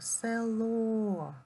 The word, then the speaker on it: село: слово на новому рядочку село наголос падає на о Запишіть його село в